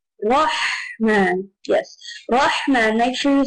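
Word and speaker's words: رحمن: You pronounce it with a full mouth, Rahman. Rather than rah, instead of rah, you say Rahman.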